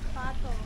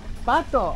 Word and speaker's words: pato: Pato. Pato. Oh, like in Spanish. Ah, son patos. That's awesome. It's the same word in Spanish.